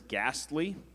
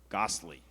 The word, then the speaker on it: ghastly: The word is ghastly. It is an adjective that means intensely unpleasant, disagreeable, or objectionable, terrible. The word is ghastly. It could also be pronounced ghastly.